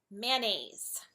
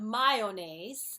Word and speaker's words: mayonnaise: hear a lot is mayonnaise it's not my OH if you want to say it short its Mayo it's not my own ace it's mayonnaise mayonnaise one that's also